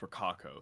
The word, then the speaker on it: Rococo: It's pronounced Rococo, thanks.